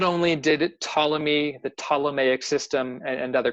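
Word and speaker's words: Ptolemy: on the Greeks uh tmy I know his name is PT but the p is silent tmy was an ancient Greek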